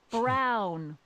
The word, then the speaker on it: Brown: to a T that's Emmett Brown rhymes with clown which I'm beginning to